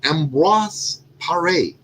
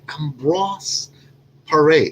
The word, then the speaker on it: Ambroise Paré: His name was Ambroise Paré. Did I say it correctly? Ambroise Paré, or Ambrose Paré.